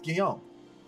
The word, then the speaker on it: Guillaume: It's Guillaume.